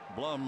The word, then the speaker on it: Blum: Blum rhymes with Glum.